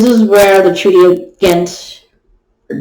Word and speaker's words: Ghent: this cabinet this is where the treaty of ghent or gent it's spelled g-h-e-n-t was signed on february 17th 1815 before being sent to congress for ratification in the war of easing 12.